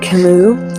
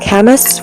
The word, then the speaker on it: Camus: Um, check out Albert Kimu. It's spelled C A M U S. I was saying Albert Chemist for years until recently.